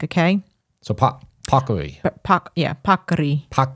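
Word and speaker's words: paccheri: Italian like okay so popcary yeah you're supposed to roll the R I can't do it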